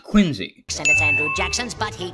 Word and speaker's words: Quincy: John Quincy Adams. It's pronounced Quincy.